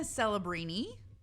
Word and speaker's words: Celebrini: Macklin Celebrini, How do you spell that last name? CELEBRINI. Yeah. Okay. And Kind your of la- sounds like celery, and I like Oh, I celery.